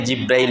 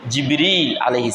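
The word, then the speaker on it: جبريل: নাম জিবরীল আলাইহিস সালাম আমরা বাংলায় ওকে জিব্রাইল বলি উচ্চারণ হচ্ছে জিবরীল সালাম তিনি রাসূলুল্লাহ সাল্লাল্লাহু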